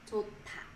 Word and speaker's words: 좋다: So this tig becomes t sound, t sound, and then this here is dropped from this syllable. So it becomes 좋다, 좋다.